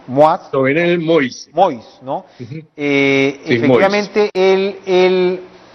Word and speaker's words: Jovenel Moïse: Bueno, Jovenel, creo que el nombre se pronuncia así, Moïse. Jovenel Moïse.